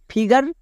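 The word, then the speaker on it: figure: তাই একই রকম ভাবে নিচেরটা দেখো ফিগার এখানেও দেখো ডবল জি আছে তাই এখানেও জি এর জন্য বর্গীয় জো হবে না জি এর জন্য গো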